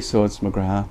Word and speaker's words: McGrath: Well, I'm in Newry, so it's McGrath.